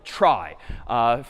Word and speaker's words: trie: in pictures this one's called a try short for retrieval even though it's pronounced differently a try is the